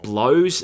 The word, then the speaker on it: Joseph Bellows: you'll meet the owner, Joseph Bellows, pronounced blows even though it's spelt bellows. You got any jobs that pay well? You're talking to the one and only Joseph Blow, son.